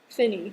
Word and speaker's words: Finney: Great Awakening his name was um Charles Finney Finney yeah that's how you say his name um